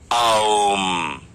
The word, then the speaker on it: ओम: है ऐसे जो साउंड निकलता है वो है ओम ओम नहीं और यही हमारी जिंदगी है देखा